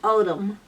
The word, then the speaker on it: Oldham: el d h am and you pronounce it odom Oldham England yeah Oh